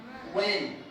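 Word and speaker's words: when: व्हेन। हाँ silent रहेगा, व्हेन, व्हेन नहीं, व्हेन। अब देखिए डू या डज क्या रहेगा यहाँ?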